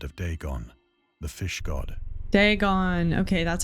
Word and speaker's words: Dagon: ancient Philistine Legend of Deon the fish God degon okay that's how you say it the fish